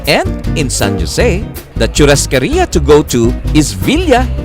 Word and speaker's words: churrascaria: Guarana and eating in churrascaria. How do you pronounce it? Churrascaria.